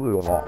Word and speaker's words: Louisville: I'll bet you went to a University of Louisville basketball game. How did you know? You have to be there to know how the locals say it. Louisville.